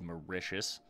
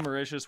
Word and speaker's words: Mauritius: the pronunciation of this this is Mauritius I believe and that makes a lot of sense that makes a lot of sense actually calling it Mauritius instead of mark Mateus or whatever I was trying